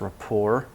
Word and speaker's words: rapport: for later jobs rapport it's word from French it's usually pronounced rapport establishing a comfortable social